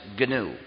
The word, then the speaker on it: GNU: always be G so please pronounce it ganu there's another erroneous pronunciation